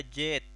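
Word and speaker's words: جيت: Nah, jadi di sini jet itu jit, jita, ya. Cuman dalam bahasa Amiya di sini jadi jet, seolah-olah tidak ada jeda, tidak ada huruf hamzah di sini, tidak ada tekanan jit gitu. Tapi jadi jet, meta jet Indonesia, gitu kan.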